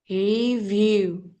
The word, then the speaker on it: review: It's like strange or unusual review. You read view. So when it's difficult for you to um like pronounce the word I think.